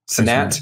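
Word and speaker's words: Cenat: How do you pronounce his name? Sinat.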